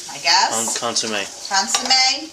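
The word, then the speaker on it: consommé: Then once you saute your mushrooms, you're going to want to use 2 cans of beef consomme, I guess. Consomme. Consomme, yeah. You said it right earlier.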